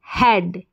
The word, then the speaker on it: head: H को ह और EAD को ऐड, हेड, HEAD, हेड।